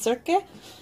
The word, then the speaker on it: Circe: I believe her name is pronounced Circe.